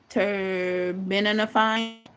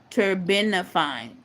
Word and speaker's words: terbinafine: The uh It's hard for me to pronounce it. Terbinafine. Terbinafine. Terbinafine.